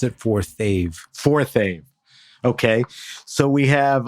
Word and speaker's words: Forthave: I know it's forth of how do we pronounce it forthave forthave okay so we have uh Daniel and